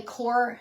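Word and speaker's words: coir: very far this is called a core doormat i think that's how you say it c-o-i-r i picked this one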